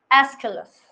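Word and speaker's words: Aeschylus: तो हम उसमें सबसे पहला नाम आता है एस्काइलस। एस्किलस, इसमें नाम किसका आता है? एस्किलस। एस्किलस की स्पेलिंग LUS करना, ठीक है?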